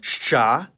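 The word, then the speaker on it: Щ: It's called shcha, and like its name, it makes the sound sh. You might think that this is two sounds in one, but in practical conversation, it can be pronounced much faster, blending the sounds together. Something like sh. And Bulgarians pronounce it more like sht.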